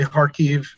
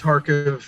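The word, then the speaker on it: Kharkiv: mean park yeah they they pronounce it kind of incorrectly on all the news they say harkeev but it's harkov it's k-h-a-r-k-i-v it's the second largest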